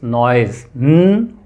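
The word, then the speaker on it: noise: E letters are totally different but when you pronounce this word it's नोइज ओ य इ ंग then नॉइस right then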